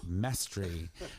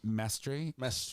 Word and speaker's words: Mastre: mispronounced so many times some people say master mystery miss oh mr but it's mastery so you're puerto rican